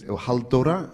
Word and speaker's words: Halldóra: Pronounce the name again for the audience. Geirharðsdóttir, Halldóra, and she's the daughter of Geirhard, like I'm the son of Erlingsson.